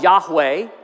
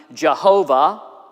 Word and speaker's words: Yahweh: yo hey Bob yo if you were to try to pronounce it out you could call it Yahweh or sometimes the two of those characters or depending if you're more Latin version might be Jehovah but actually in the